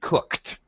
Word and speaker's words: cooked: thank you and uh watch your pronunciation of cooked it has a t sound at the end cooked okay cook cook I have